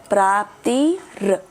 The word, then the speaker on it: प्राप्तिर्: फिर जरा, फिर देहांतर प्राप्ति प्राप्ति आर है लास्ट में, तो पूरा बोलो अक्षर इसका, सिर्फ इतना अक्षर बोलो। प्राप्तिर प्राप्तिर प्राप्तिर तस्तनमोयति धीरस तत्र तत्र नमोयति।